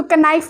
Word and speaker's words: knife: एंड नाउ like if I am giving you the example of knife, so we not call this knife, हम उसको knife नहीं कहते हैं, हम उसको knife ही कहते हैं। तो उसमें लेकिन जो K वर्ड है वो साइलेंट है।